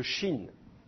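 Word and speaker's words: שׁין: Donc, dans certains cas, le Shin ne va pas être prononcé che, il va être prononcé se.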